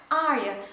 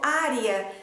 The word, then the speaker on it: Arya: Martin, o nome da Arya deve ser pronunciado em 2 sílabas e não em 3 sílabas como a série tem apresentado. Na pronúncia do português ficou Arya e na pronúncia do inglês ficou Arya.